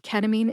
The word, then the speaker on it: ketamine: I divided ketamine into syllables, told you which syllable to emphasize, and I shared my sources.